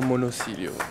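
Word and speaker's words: Monosilio: Do you remember Luciano Monacillo from my Monacillo pasta series, the okay.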